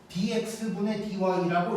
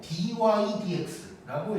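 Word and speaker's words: dy/dx: dx분의 dy라고 읽는 게 아니고 dy dx라고 읽을 거야.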